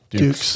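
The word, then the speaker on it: Dux: plays the character of frank ducks dukes dukes like put up your dukes yeah frank is that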